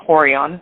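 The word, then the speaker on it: Rorion: Gracie Jiu-Jitsu specifically hon pronounced in America people say horon horon Gracie uh who was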